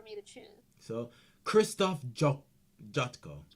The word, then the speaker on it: Jotko: So Christoph Jotko. Did I say it right? Jocko, yeah. Jocko.